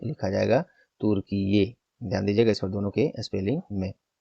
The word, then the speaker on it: तुर्कीये: अब इस नाम से लिखा जाएगा तुर्कीये। ध्यान दीजिएगा इस पर दोनों के स्पेलिंग में।